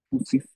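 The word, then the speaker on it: φύσις: Karena kalau kita lihat di dalam akar bahasanya, kalau kita Paulus menuliskan kata wajar itu dengan fusis ya, ini bacanya fusis atau yang nanti akan diserap sebagai fisik ya, atau mungkin kita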